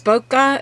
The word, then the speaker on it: bokeh: I have seen those bokeh, is that how you say it?